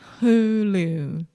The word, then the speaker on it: Hulu: Okay, but Alexia, it's not who. That almost seems French. Who? Who? Hulu. Hulu. Hulu. Hulu. Perfect.